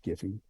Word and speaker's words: Giphy: he got on giphy I pronounce it Jif but they pronounce it giffy uh he got on